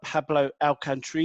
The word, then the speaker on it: Pablo Alcantarilla: insider today I'm delighted to be joined by Pablo our country yeah first of all have I pronounced that correctly yep good good start and